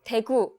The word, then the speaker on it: 대구: Oh, 대구. Okay. 대구. Daegu.